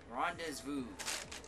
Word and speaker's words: rendezvous: Which sounds like Ren does vows.